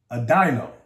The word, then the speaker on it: Adino: The I in Adino is pronounced I. Adino.